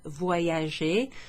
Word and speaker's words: voyager: I travel, from the verb voyager. Voyager. Listen to the way that Y, the Y is pronounced.